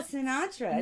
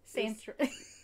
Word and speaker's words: Sintra: Azul Sinatra. Not Sinatra. No. It was this. Sintra. Okay, well, I can't say it. I can't say it either. I thought you said it right. Sintra. Sintra. Not Sinatra. Not Sinatra. Not Sinatra. So the not Azul Sinatra.